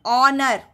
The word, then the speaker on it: honor: हम बोल रहे हैं ऑनर. It is taking the vowel sound of O. H यहाँ पर साइलेंट है. H का हम प्रोनाउंस नहीं करते हैं, उच्चारण नहीं कर रहे हैं.